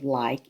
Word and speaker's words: like: the third box and the last letter in the word like is e i will move it to the last box that's silent e so i have made